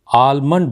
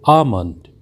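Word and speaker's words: almond: हैं हमारा शब्द है इस शब्द का उच्चारण भी अक्सर हम आल्मंड ऑयल देते हैं जो कि कहना बिल्कुल गलत माना जाता है क्योंकि इस का सही उच्चारण जो है वह होता है आमंत्रित आमंत्रित जिसका अर्थ होता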